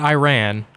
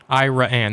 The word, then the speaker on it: Iraan: I think it's iraan I think it's Iran iraan not Iran iraan that's why there's two A's in it I think it's